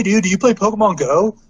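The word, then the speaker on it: Pokémon: out first of all it's pronounced Pokemon not Pokemon Pokemon accident above the EE Pokemon but the amount of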